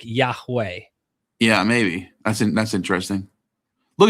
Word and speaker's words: Yahweh: Nehemiah Gordon argues that the Hebrew name of God, Yahweh, is pronounced Yehovah. He contends that this pronunciation is supported by thousands of ancient manuscripts and represents the original Hebrew rather than the more common academic Yahweh.